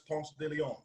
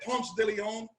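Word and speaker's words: Ponce de León: the hearts mark where you come from you pronounce this Ponce de Leon and if I said Postiglione and possibly on they look at me jack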